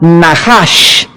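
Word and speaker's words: נחש: Veamos rápidamente esta misma palabra para entender el contexto en el libro de Levítico, capítulo 19, es la palabra Nahash, se escribe Nachash.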